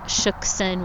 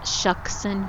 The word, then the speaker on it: Shuksan: Also, we realized that we've been saying Shuxson when of course this is pronounced Shuxson Vans.